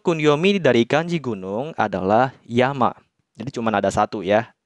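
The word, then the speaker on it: 山: berdiri sendiri seperti ini dia akan dibacanya Yama bacanya kunyomi Ya Ya tentu saja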